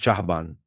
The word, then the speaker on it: Caban: Red caban pronounced chahaban symbolizes the earth helmsman or navigator.